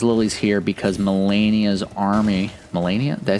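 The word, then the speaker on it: Malenia: So, when it comes to the Michel's liies here, we have to ask, are the Michelis liies here because Melania's army Mellennia?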